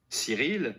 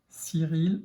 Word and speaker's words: Cyril: Vous voyez qu'il n'y est pas dans les graphèmes, mais on voit que le prénom Cyril, le C va se prononcer S, parce qu'après il y a le Y.